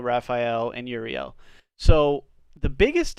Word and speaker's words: Raphael: the moment very religious the way that all of these angels names are supposed to be pronounced is with el at the end so it's me l gabriel raphael and l is of